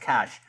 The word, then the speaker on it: cache: which makes more sense even though i know the word is pronounced cash you've got cash money